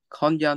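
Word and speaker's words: 今夜: This is pronounced, if I believe, as true, konya, which I don't think that's what you read it as.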